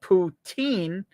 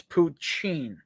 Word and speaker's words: poutine: Poutine or potchine. So your emphasis, poo. I think I have to go with the poo. So it's instead of poutine, it's poutine.